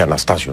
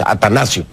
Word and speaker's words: Atanasio: quiero hacer una corrección pronuncié mal el nombre del estadio atanasio Me parece que dice dije Anastasio no es atanasio atanasio girardo vamos entonces